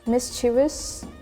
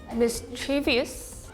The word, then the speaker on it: mischievous: Mischievous. Mischievous. Eyes. Maybe mischievous. Mischievous. Oh, remove the O. Mischievous. This is also a French word, so you don't pronounce the O.